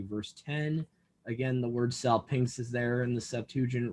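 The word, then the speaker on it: salpinx: the silver trumpet so the greek word there is cell pinks that's i guess how you would pronounce it in english s a l p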